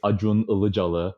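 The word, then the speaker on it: Acun Ilıcalı: the the idea is there is this guy ad room allah jalla is how you pronounce it in turkish he's one of the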